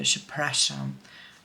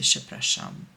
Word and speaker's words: przepraszam: And the same goes with I'm sorry or excuse me, przepraszam. It took me 2 weeks to be able to say przepraszam.